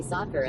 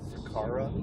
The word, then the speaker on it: Sakura: Uncle J Pop says Cherry Sakura is the name. Ah, that's it. There you go. Cherry Sakura. I remember because Hammer said it wrong. Said, what did he say? Sakara?